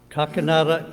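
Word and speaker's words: Kakinada: He is promoting the India preacher a preachers training school in uh Ken how you pronounce that David Kakanada Kakanada India and we're glad to have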